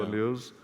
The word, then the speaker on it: banlieues: How could you have avoided what's happening in the, how do you pronounce the French term, banlieues? The banlieue, yeah. Banlieues.